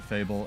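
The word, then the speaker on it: Fabvl: Again, big shout out to Fable, F-A-B-V-L, which is actually how you apparently pronounce his name, so I'm glad I got that right for once.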